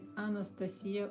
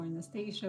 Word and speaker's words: Anastasiya: One of them is called the point by Anastasia or Anastasia. Whatever your pronunciation is is completely fine.